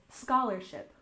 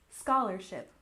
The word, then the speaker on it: scholarship: and next we have scholarship we stress the first syllable scholarship scholarship this refers to money